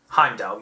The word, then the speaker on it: Heimdall: Heimdall, yeah, that is the correct pronunciation.